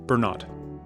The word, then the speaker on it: Bernot: And our guest today, you know her, Kate Bernot. Did I pronounce that correctly? You got it. I always want to. I always think like a French pronunciation when I see your name.